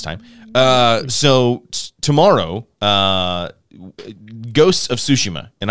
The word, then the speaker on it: Tsushima: So tomorrow, Ghosts of Tsushima, and I say Tsushima because that's how they say it in the game.